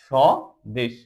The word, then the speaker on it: স্বদেশ: ব এর কোন উচ্চারণ হয় নিশ্বাস যখন আমরা উচ্চারণ শ্বাস দেখ ব কোনভাবে উচ্চারিত হচ্ছে না। স্বদেশ সদেশ।